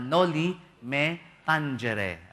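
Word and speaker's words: Noli Me Tangere: kanyang unang nobela na Nolly Meangere ayon yun po talaga pronunciation sa latin yung Spanish sa ano natin no metanghere pero at ang latin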